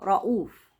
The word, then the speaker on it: رؤوف: اللغه العربيه خالص يعني بعض النساء بتنطقوا كنوع من الرقه رؤوف تعال يا رؤوف ما فيش ما فيش ده مش حرف عندنا خالص راه رؤوف هو ده الصوت المظبوط وده النطق السليم لاسم رؤوف رانيا ما اقولش رانيا